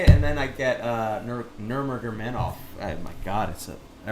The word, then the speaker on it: Nurmagomedov: Khabib Nurmagomedov. I know how to say it, and then I get Nurmagomedov.